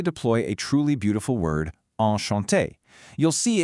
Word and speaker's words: enchanté: a truly beautiful word, enchanté. You'll see it can have an extra e at the end if you identify as female, though it's pronounced exactly the same either way.